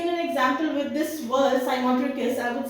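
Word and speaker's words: cymotrichous: How will you pronounce it? You will call it साइमोटिकस।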